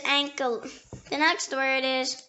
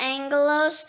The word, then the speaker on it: ankylose: The next word is Ankylos. Ankylos. It can also be pronounced angelos or ankylos or ankylos or ancylos.